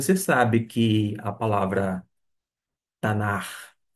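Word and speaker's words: Tanach: n a c h tanar e por fim esse esse c que seria um som de c alemão é do e ou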